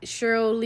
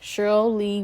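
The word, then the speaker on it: Sheryl Lee: way she is and I know I'm saying name wrong it's basically pronounced cherl L let me double check I was I was correct Cheryl Lee Ralph so I was listening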